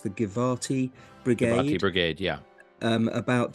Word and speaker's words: Givati: There seem to be photographs of is it pronounced the Givati Givati Brigade, Brigade, yeah.